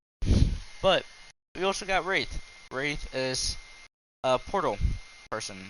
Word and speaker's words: Wraith: Alright, Wraith, or Wrath. However you want to pronounce it, I pronounce it Wraith.